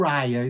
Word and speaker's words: Uriah: por lá, que é Urias, tá? Então, na sua ã pronúncia original é Urias, né? Pro inglês ele ficou Ria. Então, mas se você quiser falar Yúria também é aceitável, tá?